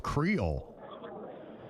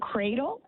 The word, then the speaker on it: Creole: There's a place you should check out called the House of Creole. House of cradle?